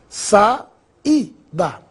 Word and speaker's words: saída: Vamos separar as palavras em suas sílabas. Sa-i-da.